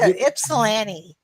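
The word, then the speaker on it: Ypsilanti: is a lifelong and I've always I think pronounced this word wrong, so correct me if I'm wrong. Ipsilante. You're good. Ipsilante.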